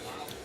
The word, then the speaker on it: Lowe: This is Brandon Lau. It's Josh Lowe. Just spelled the same.